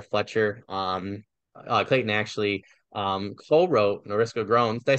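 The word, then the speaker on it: Norylska Groans: Fletcher, Clayton actually co-wrote Noriska Groans.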